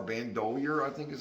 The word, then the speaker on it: Bandolier: this is uh Budgy Bando doer I think that's how you say it it's b n d o l i e r bandolier I think is how